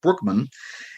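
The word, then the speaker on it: Bruckman: Brookman we always say Brookman but it's evidently pronounced like like a babling brook Brookman and he he was primarily a writer um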